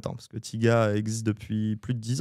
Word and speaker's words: Thiga: Donc déjà comme tu m'as posé la question avant, ça se prononce bien Tiga et pas taiga comme le rappeur américain.